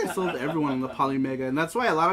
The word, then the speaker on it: Polymega: of people because of poly Mega okay that's how you say it I couldn't I couldn't